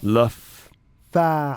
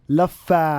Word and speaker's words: Laffa: You have to pronounce the F. Just say it one time. Okay. Laf. Say laf. Laf. Fa. Fa. Laffa.